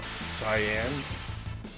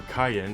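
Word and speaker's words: Cyan: now between Yang and Sayan or cayen as he's supposed to be pronounced I could probably get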